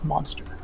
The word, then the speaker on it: MonstR: The chat channel is MonstR. Okay, I'll let him know. Spelled like monster, like MONSTR.